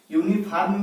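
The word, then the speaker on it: uniform: क्या मिला, वावेल मिला, लेकिन इसका यदि उच्चारण करिएगा तो क्या हो जाएगा, यूनिफॉर्म। यूनिफॉर्म होगा कि नहीं होगा। अब इसका पहला उच्चारण क्या मिला, व्यंजन मिला, तो अब इसके आधार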